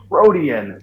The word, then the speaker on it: Protean: No, I'm saying you pronounced it right. It's Protean.